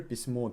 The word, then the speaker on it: письмо: Письмо.